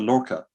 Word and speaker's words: Lorca: Catherine Green says, I really like the Lorca. Am I pronouncing that right?